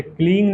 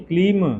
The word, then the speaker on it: क्लीं: उच्चारण अंत में म, जैसे क्लींग नहीं, क्लीम, क्लीम, रीम।